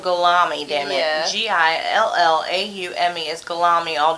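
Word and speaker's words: Guillaume: say it where is italine well it's spelled galami dammit g-i-l-l-a-u-m-e is galami all damn day in America yep how'd you say it's pronounced again gilm huh yum yum I ain't never gonna remember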